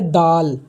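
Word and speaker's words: دال: ये है दाल, उर्दू में हम इसका उच्चारण दाल करेंगे, लेकिन इसकी हिंदी अगर जानना हो तो ये द के इक्विवेलेंट है।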